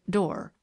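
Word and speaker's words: Doré: She pronounced it Dor.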